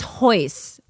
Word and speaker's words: Royce: a horse in there the rs are h's say it that way try that so are you sure it's spelled royce but it's hoys and horian horian yes